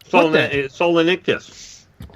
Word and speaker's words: Solenichthyes: It's spelled SOLENICHTHYES. Solenictus.